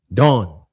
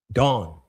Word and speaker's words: Dan: Dawn. Dawn, right? That's how you pronounce it.